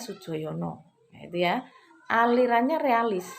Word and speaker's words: Soedjojono: Nah, itu tulisan lama, nama lama ya begitu. Istilah apa? absennya ya, bacanya Sujoyono.